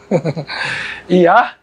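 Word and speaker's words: יה: Yah, se eu tirar aqui e deixar só essas duas, se pronuncia Yah.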